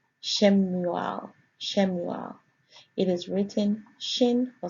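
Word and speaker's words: שמואל: It is pronounced there as Shemuel.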